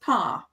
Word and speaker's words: Paar: But mild rhymes with child, just like Haar rhymes with Paar.